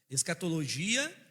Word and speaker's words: escatologia: Eh, lembrando que o grego, hebraico, não tem esse som de G como nós temos, né?